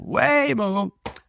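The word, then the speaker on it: Waymo: the way it's weo wayo I now forgot how to pronounce it weoo weoo wh way is in way yeah wayo so wayo has seen probably every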